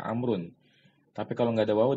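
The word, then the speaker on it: عمرو: Kalau setelah tulisan ain, mim dan ra itu ada waw, itu bacanya Amr ya, Amrun.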